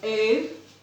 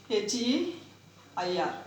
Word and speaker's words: heir: An honest person, an honorable man, an heir, H-E-I-R, not H-A-I-R, H-E-I-R, an heir, like that. Here H is silent.